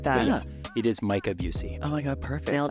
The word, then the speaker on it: Micah Bucey: We have the wonderful Micah Bucey.